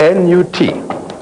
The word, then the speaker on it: Nut: How do you spell that? N-U-T. Pronounced Nut. Some people write it N-O-U-T.